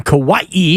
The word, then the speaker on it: Kauai: toes in the sand in Kauai as we now know it's pronounced but this year goes